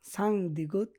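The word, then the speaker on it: 쌍디귿: এগুলায় Korean উচ্চারণ হয় সাং গিয়ক, সাং দিগুত, সাং বিউপ, সাং সিউত, সাং জিউত।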